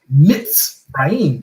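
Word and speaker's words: מצרים: So this is why when you go back to Mitzrayim, that's why it's pronounced Mitzrayim with the Z sound, because you have a Sade in there.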